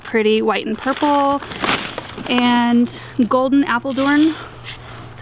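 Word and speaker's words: Golden Apeldoorn: And then I got Clouds of Cotton Tulips, really pretty, white and purple, and Golden Appledorn, that's how you say it.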